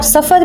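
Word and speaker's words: ظفار: उसका कैपिटल था जफ़र, और इस जफ़र को आप सफ़र भी कह सकते हैं, मतलब कि जो हम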